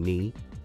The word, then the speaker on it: knee: And in knee, the K is silent.